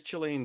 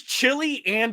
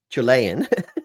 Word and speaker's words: Chilean: What exactly is Chilean sea bass? His pronunciation of it. That's the issue. Because you kind of hear... I thought it was chili and sea bass for literally decades.